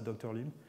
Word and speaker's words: DrLim: Alors c'est un acronyme, ça veut dire Dimensionality Reduction by Learning and Invariant Mapping, mais on prononce ça DrLim. Ça fait un peu comme Dr No, ça fait un peu un film de James Bond.